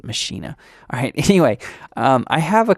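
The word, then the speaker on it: Maschine: why saying machine oh that's actually how it's pronounced I know most people say machine and it makes me feel weird to hearing it pronounced machinae alright anyway I have a couple kits pulled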